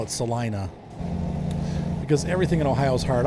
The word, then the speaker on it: Celina: this is pretty look at that is it celina or selena it's probably selena in ohio we call it celina because everything in ohio's hard eyes we have